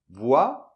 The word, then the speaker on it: voyage: On fait voix. - Voix. Et après on fait comme si c'était un peu deux L, A. D'accord ? YA. Voyage, d'accord ?